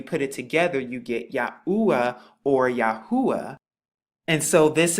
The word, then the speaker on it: Yahuah: course precedes the modern, but it's the pronunciation, it's the same yod hey oo hey and this is exactly what you get and when you put it together cuz remember Hebrew goes from right to left, you once again get the pronunciation Yahua once again and it's the same